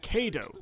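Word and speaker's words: Cadou: Kado, that's how it's pronounced.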